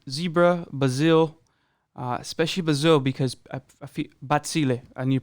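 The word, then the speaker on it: Bazille: Like I mentioned, we are going to be covering Zebra, Bazzill, especially Bazzill because Bazzill, I need to pronounce it properly, Bazzill.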